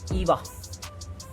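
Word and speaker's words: 岩: If we are if we are writing this kanji alone without any suffix or without any prefix, then we will pronounce it Iwa, which means a rock.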